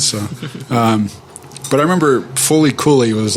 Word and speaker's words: FLCL: you ever see that it's spelled flcl but it's pronounced fully some